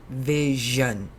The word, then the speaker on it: vision: up the world over it's spelt s io n but we say vision yeah it's almost like a J built in there oh yeah it's look